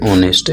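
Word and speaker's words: honest: एन ऑनेस्ट nurse. H के हिसाब से नहीं लगेगा, यहाँ ऑनेस्ट है, तो ओ के हिसाब से जो उच्चारण है यहाँ पे एच क्या है? साइलेंट है, तो उच्चारण ध्वनि अगर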